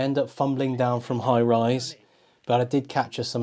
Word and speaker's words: High Raise: it's highrise High raise it's spelled High raise but it's highrise okay weird I don't